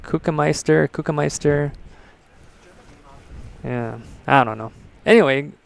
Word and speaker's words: Kuchenmeister: I know I said that name wrong before. It's Kuchenmeister.